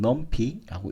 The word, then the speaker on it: NumPy: 넘파이 혹은 넘피라고 읽기도 합니다. 다차원 배열이라든지 행렬 객체가 포함되어 있는데요.